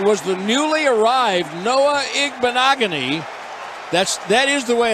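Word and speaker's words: Igbinoghene: goal and it was the newly arrived Noah igbanogony that's that is the way it's pronounced just throw a bunch of letters and consonants in there it's igbanogony hilarious how much would you guys pay me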